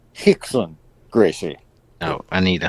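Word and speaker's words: Rickson: again the r foreign his first name is pronounced like an h can we can we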